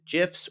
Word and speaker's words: GIF: JPEGs and PNGs to GIFs or GIFs, depending on how you like to pronounce that, graphical image format. It's GIF. If you say it another way, you're probably a serial killer.